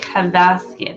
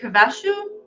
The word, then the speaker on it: Havasu: Lake Havaski, I think it is. Let me look it up. I don't know if I say it right sometimes, but it's in Havashu, Lake Havashu, Arizona. It's spelled Havasu.